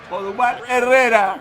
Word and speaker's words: Odubel Herrera: O'Duval, how do we pronounce his name, Poppy? Odubel Herrera.